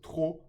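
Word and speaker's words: trop: genal perfect then here the p of tro is silent okay so tro so good and what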